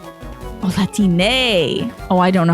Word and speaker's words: Latine: All vowels always pronounced in Spanish.